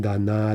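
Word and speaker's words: дана: Every once in a while, you'll see some weird stress shifts. Like for данный, we get dan, dana, dano, dany, right? So that's unusual, but we see generally the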